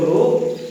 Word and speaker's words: rho: इसको प्रोनाउंस करते हैं RHO रो और इसको कहते हैं रेजिस्टिविटी।